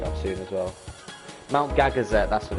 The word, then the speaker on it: Gagazet: Yeah, it's Gagazet. I don't remember what it was called. I know I said Coronet because that's Pokemon. It rhymes, but no, Gagazet.